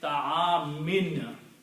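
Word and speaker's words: طعام: If there is a dhamma, it will change to a kasra. If there are two dhammas, it changes to two kasras. So pronunciation will be ta'amin.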